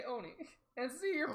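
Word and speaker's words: 鬼: Should we let him become an Onai? Nah, scrap his suit so excuse we me. Can make so we an can make Kyria's form better. Excuse me. What? Onai? Oni.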